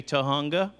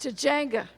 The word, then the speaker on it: Tujunga: I'm a grateful, delighted alcoholic from Tujunga, which is sometimes pronounced Tujunga.